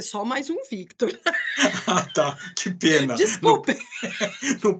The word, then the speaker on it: Victor: E ninguém pronuncia, todo mundo fala Vitor, Vitor, Vitor. Eu acho tão bonito Victor, assim, dá Victor. Porque você tem um Vi, né? Aí você tem quase um contrapasso e daí Tor, né?